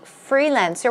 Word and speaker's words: freelancer: the pronunciation should be freelancer with the stress goes on the first syllable so in this case